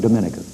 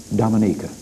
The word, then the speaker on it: Dominica: minister Eugenia Charles of Dominica I call that wrong she pronounces it Dominica she is Chairman of